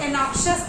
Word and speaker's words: anxious: एनॉक्शियस कहते हैं, इसकी स्पेलिंग ध्यान से देख लीजिए, ANXIOUS, इसको एनॉक्शियस पढ़ा जाता है। कई लोग एनॉक्शियस भी पढ़ते हैं, तो उसका प्रोनाउंसिएशन का अपना रोल है।